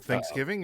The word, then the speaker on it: Thanksgiving: do you guys say do you put the emphasis on the first syllable or like the first half or the last half do you say Thanksgiving or do you say Thanksgiving because thank go first I'd